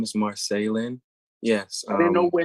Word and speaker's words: Marcellin: A lot of people will say Marcelin, but it's Marcelin with like an accent on the E.